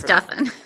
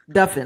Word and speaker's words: Duffin: It's pronounced like muffin.